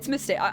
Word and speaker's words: Mystere: It's Mystere. I'm pronouncing it Saint Mystere.